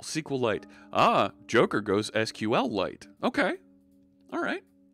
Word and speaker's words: SQL: you use an end a stool penner goes SQL server yeah say the programming language isn't sequel its SQL see Wikipedia was initially called sequel